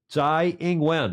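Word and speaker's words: Tsai Ing-wen: tough lady that she is she's been president Z inguen I went online to get the proper pronunciation she has been president since 2016 it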